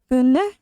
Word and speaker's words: bønder: Don't really pronounce the D in there. Bønder.